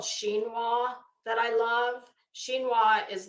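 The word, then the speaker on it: chinoiserie: r r e She it looks like it should be Shino but it's it's shinoa uh so I took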